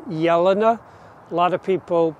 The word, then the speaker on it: Jelena: of people pronounce it jelena but mrs de belder from the count calm toot arboretum in belgium pronounced her name yelana that j was is pronounced like a y and this is a